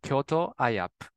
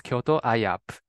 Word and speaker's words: Kyoto iUP: Today we are going to talk about Kyoto University and our scholarship program for international undergraduate students called Kyoto IAP. We pronounce Kyoto IUP as Kyoto IAP.